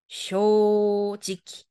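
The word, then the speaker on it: 正直: 미나상 정직이라는 한 자네요 이때 직자 여러분 직기로 읽어 주셔야 돼요 아이 정직이 발음이에요 그렇죠 쇼지키 마지막에는 우리가 직기로 읽었습니다 자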